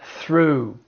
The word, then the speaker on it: through: It's through. It's the oo sound. But once again, the GH is silent.